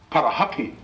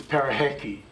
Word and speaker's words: Parihaka: not so informed Maori we're calling it parahaki but but really the proper pronunciation of that name on the on the right hand side there is peraheti you see there